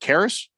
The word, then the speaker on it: Karras: Is it Karras?